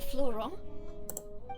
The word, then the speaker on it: Florent: Florent? Yes, surprising. This one they pronounced it well.